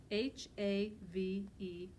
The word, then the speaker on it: have: it sounds right so our new sight-word have has a silent e at the end but the a still makes the short a sound so it's huh yeah the silent e H a ve have now one thing we